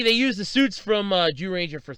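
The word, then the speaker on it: Zyuranger: The 1992 series Jew Ranger, and it's spelled ZYU Ranger, but it's pronounced Jew Ranger, was remade into Power Rangers. Technically, they used the suits from Jew Ranger for 3 freaking seasons.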